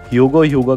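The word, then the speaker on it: Jugram Haschwalth: है, और guys literally इस बंदे का नाम ज्यूग्राम हैशवॉल्थ होता है, लेकिन जो इंग्लिश में प्रोनाउंसिएशन है उसके अंदर लिटरली ह्यूगो करके सुनाई देता है, इसलिए मैंने इसका नाम ही चेंज करके ह्यूगो पटक दिया।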